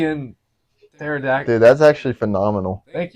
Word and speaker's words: pterodactyl: like pterodactyl, Yeah. Or tsunami. kind of like What's Yeah. pterodactyl. What is Or pterodactyl? tsunami. Wait, what does pterodactyl have to do with anything? Silent P.